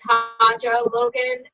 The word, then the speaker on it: Hanjo Logan: my name two ways so i'll say how i say it it's how i say